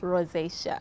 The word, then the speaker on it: rosacea: It's rosacea. Did I say it right? Rosacea.